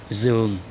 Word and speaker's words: giường: For the people who come from like the north, especially Hanoi City, they will pronounce giường. So it will be một giường, một giường. But for me, the people who come from Ho Chi Minh City, we will say một giường.